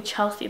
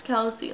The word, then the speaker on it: Kelsey: have the same name everybody calls me Chelsea that's like a random fact but like a lot of people like when I say my name they're like oh hi Chelsea like no it's Kelsey like I didn't say